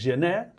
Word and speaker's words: gener: En catalán es gener, se come la R final escrito gener.